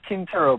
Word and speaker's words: Quintero: You're pronouncing it right. It's Quintero, but it's spelled Quintero.